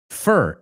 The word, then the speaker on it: fur: So, fur, F-I-R, fur, F-U-R, and for, F-O-R, en algunos casos se pronuncia como las primeras dos.